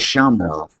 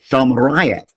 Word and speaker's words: Shamrayev: Let's look at Shamrov. Okay, and I didn't quite pronounce it correctly. Let's listen to it again. Shamrayev. So I left out a syllable for that.